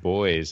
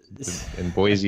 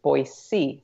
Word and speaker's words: Boise: is they'll say like Boise with a Z but the proper pronunciation is actually Boise like almost like boy with the letter C yeah so people around